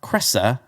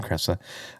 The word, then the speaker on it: Kresa: have odb or or jessica cressa i think is how you say her last name cressa uh odb from tna